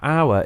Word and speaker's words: hour: words like our now hour is is spelled or r a silent h it's spelled with a